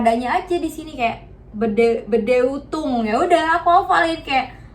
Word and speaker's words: Bedeutung: Nah, cara aku menghafal kosakata ini, jadi kan kita tahu ya, kita udah belajar di pertemuan pertama ini EU itu dibacanya OI ya kan.